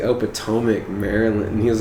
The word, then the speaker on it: Potomac: It's like, oh, Potomac, Maryland.